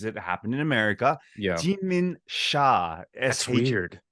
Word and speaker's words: Sha: like it's even more confusing because the English pronunciation is Sha. It's SHA.